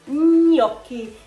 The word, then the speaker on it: gnocchi: It's not gnocchi or gnocco, it's gnocchi. Took me years to learn how to pronounce the G and together like that, gno, but I don't even know if I do it properly.